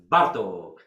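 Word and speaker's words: Bartók: More attention to the so-called Hungarian language, because in Hungarian language always the first syllabus is strong. It's Bartok, Kodai, Igen.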